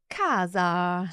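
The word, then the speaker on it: casa: the word for house Kaza so it's a hard C Sound Kaz so it's followed by an e there so it's a hard sound and an example of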